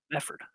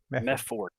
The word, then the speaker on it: Mefford: Mefford. M-E-F. Mefford. Yep. Yeah, okay. All right. It's so kind of like method with a TH, right? But method.